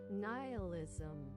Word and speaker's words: nihilism: Nihilism.